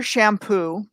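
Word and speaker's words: Champoux: the first video there's a researcher named peter shampoo and that's how he pronounces it he spells it c-h-a-m-p-o-u-x and i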